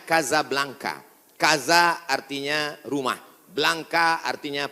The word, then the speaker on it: Casablanca: nama negaranya Maroko ibukotanya tulisannya Casablanca cara bacanya Kasablanka Kaza artinya rumah Blanca